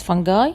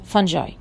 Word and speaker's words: fungi: fungi by the way it can be pronounced as fungi and fungi if you have eaten